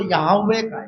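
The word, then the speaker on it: Yahweh: ले ऐसे पुराने नियम में अपने परमेश्वर को यवे यावे यवे का स्पेलिंग है वाई एच डब्लू एच सब लोग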